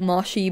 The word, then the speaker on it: Moshi: hotel and of course mushy monsters also as a side note i know that most people pronounce it moshi but i grew up saying mushy it's it's how everyone